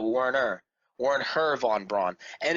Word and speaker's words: Wernher: H in it now his first name is now worn her worn her instead of Warner Werner von Braun and